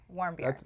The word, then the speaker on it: Warmbier: Warmbier.